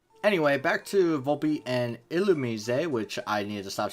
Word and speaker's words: Illumise: Anyway, there is Volpe and Illumise, which is hard for me to pronounce for some reason. And it is Illumise because, yeah, get cultured.